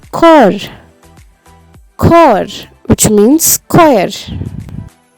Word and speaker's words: Chor: In the German language, the words which normally start with the letter C is pronounced like the letter K. Here we have the word Chor.